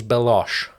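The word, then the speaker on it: Belloq: Who Sala calls Beloche. So I'm thinking he's French. It's spelled Belloch. But then the thing isn't it Q? Yeah, which is why the Nazis would call him Beloche.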